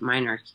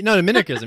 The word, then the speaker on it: minarchism: Or is it minarchy? No, minarchism.